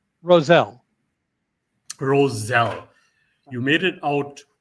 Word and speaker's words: Roselle: Please correct me if I'm pronouncing the name correct. Roselle or was it Rochelle? Roselle.